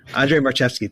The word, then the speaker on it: Andrzej Marchewski: I'm not sure how to pronounce his name, but it's Andrzej Marchewski. Andrzej Marchewski.